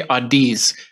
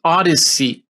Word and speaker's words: Odyssey: some reason I say Adis every time I see it I Adis but it's Odyssey Odyssey as an odyssey as in the great